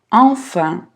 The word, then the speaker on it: enfin: Enfin. En носовой. А здесь уже звук un. Enfin. Enfin.